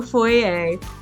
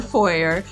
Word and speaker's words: foyer: be made into a foyer or foyer apparently both pronunciations are correct it'll continue to stand